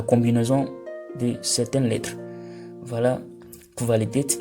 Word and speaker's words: Qualität: Voilà, Qualität, lorsque le Q et le U se suivent, ça se prononce Kv. Ce n'est pas Q, mais c'est Kv. Qualität.